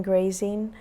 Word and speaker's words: Graesing: to me on Facebook my name is grazing um my last name is spelled g r a s i n g